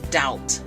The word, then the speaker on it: doubt: you have to remember rules like there silent letters remember I told you that every math reading and writing has um rules patterns and that you have to remember and and like when you write words let me give you okay one of the example is doubt doubt the doubt is